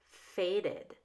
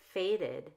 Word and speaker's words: faded: blurted has two syllables faded faded has two syllables otherwise the Ed does